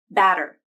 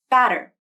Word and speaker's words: batter: The flap can take the place of a T or D when they occur between vowels, and the second vowel is in an unstressed syllable. This can happen within words like in automatic, wedding, and batter. I'll say these words again, both with the flap and without the flap. Listen to the difference in the T or D sounds.